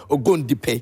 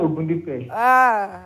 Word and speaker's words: Ogundipe: Don't mind him, Ogundipe. Hey. You are spoiling the name. It's actually Ogundipe.